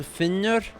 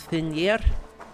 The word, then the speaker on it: Finnr: can't say i understand why they're pronouncing finner as finer i'm not really sure